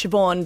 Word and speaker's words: Siobhan: The thing is you know that it's Siobhan because you've seen it so many times. Yeah. Yeah. It's spelled Saban.